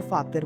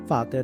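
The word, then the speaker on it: Vater: अगर कोई इंग्लिश का शब्द है, फॉर एग्जाम्पल जर्मन में हम फादर को फातर बोलते हैं, तो उसकी प्रोनाउंसिएशन फातर रहेगी, फातर।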